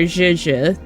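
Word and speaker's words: Zhezhi: Oh, so right now it is Zeshi. Or Zhizhi. That's how you pronounce her name.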